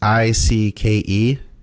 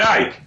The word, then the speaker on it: Icke: guy's name David and his last name is IC ke David Icke David Ike Ike who's David what's your